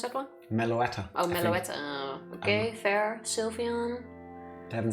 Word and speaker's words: Meloetta: Korean half seen but okay can understand meloda where do you pronounce that one Meloetta okay fair Sylveon I haven't seen it persimian